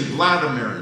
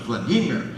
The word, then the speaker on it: Vladimir: You would say Vladimir. It's actually pronounced Vladimir. Put the accent on the right.